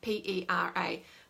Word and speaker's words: Pera: Peter is his nickname, P-E-R-A. But the Maoris in New Zealand, they pronounce it Peter, but the non-Maoris don't roll their R, so they call it Pera.